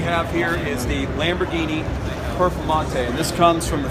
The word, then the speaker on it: Performante: Can pronounce. It's Italian. So Performante.